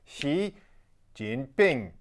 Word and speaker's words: Xi Jinping: with the Chinese leader Xi Jinping that's right it's XI Jin Bing there's tones involved It's Tricky that'll get you close